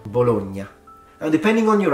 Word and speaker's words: Bologna: famous Italian northern city and the city is pronounced bologna bologna and depending on your accent the Nia sound can be stronger or it can be very gentle particularly in Northern accents but it's definitely not baloney the next one please get it right please